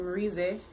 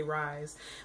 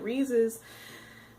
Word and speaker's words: Rize: beautiful, beautiful woman named Rize. Rize? I believe that's how you pronounce it. I always want to say Rise.